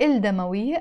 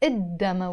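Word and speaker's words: الدم: del as I said we don't pronounce the L before them l demo we even if it's written instead of saying L demoiii I pronounce it Adama we let door Adama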